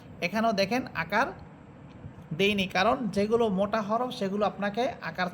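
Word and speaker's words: ز: পড়েছিলাম উপর উপরের দুই দাতের আগার সাথে আর যা সিন সদ এই তিনটা হরফ নিচের দুই দাতের আগার সাথে লাগবে আর এই তিনটা হরফের সিফাত একটা হচ্ছে চরি পাখির মত আওয়াজ হবে ঝিঝি পোকার মত আওয়াজ হবে যা সিন সিন সদ সদ আপনারা নিজেরা একটু চেষ্টা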